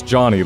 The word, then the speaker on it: Johnny: quote, Yarrow seems to pronounce Johnny like Jenny or Johnny with an A.